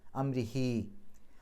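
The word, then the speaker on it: أمره: വെളിവാക്കി പറയണം മിൻ അംരിഹി അംരിഹി എന്നുള്ളിടത്ത് ഹാമീർ വന്നു അതിനു മുമ്പും ശേഷമുള്ള അക്ഷരങ്ങൾക്ക് ഹർക്കത്ത് ഉണ്ട് അതുകൊണ്ട് രണ്ട് അക്ഷരത്തിന്റെ ദൈർഘ്യം നീട്ടുക അംരിഹി റാഇന് കസ്റർ ആണ് രീ എന്നുള്ള ഉച്ചാരണം കൊടുക്കുക യുറൻ അവിടെ പാരായണം അവസാനിക്കുകയാണ്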